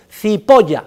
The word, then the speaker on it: Cipolla: Cipolla significa en italiano el señor cebolla, para que ustedes lo sepan, Cipolla se escribe, Cipolla se pronuncia y significa cebolla.